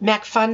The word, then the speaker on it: MacPhun: You work at MacPhun Software.